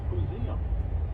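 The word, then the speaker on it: Poozeum: song for that called the pum rhymes with Museum just change out the for the PO and it's set to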